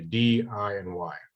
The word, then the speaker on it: DIY: How do you know how you would pronounce that in English? Dia. So it doesn't really work. So we just say D, I, and Y.